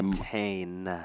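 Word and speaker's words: Montagne: I know everyone hates it when I say Montaigne. Whatever. I don't care. The G is silent.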